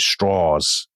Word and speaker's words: Strauss: He he pronounces it straws because he kind of thinks it'll sound more southern and less Jewish.